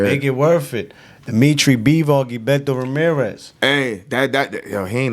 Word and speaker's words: Bivol: That's how I say his name. Bivol. He was the aggressor. Like he was letting the hands go. Zoldo was lost. Yeah. Yo, his jab is crazy. Bivol's jab. Bivol. It's like behold, but Bivol, his jab.